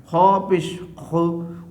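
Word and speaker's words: خُ: over the Kha, and you have to pronounce now this one is Kha Pesh Khu, Kha Pesh Khu.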